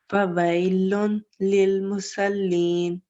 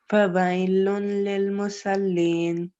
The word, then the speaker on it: فَوَيْلٌ لِلْمُصَلِّينَ: فويل للمصلين. Okay, so because we have a lam mushaddad here, but the tanween will not be pronounced with the ghunna sound, so it's a straight sound.